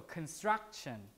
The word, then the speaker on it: construction: syllable right penultimate so in this case the stress is struck right so construction like that construction that's why this